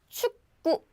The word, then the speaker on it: 축구: 축구. Did you hear the sound? I didn't say 축구, but I said 축. 축구. So I didn't have k sound.